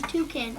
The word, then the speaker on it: toucan: This large bird is called the toucan. Rhymes with you can.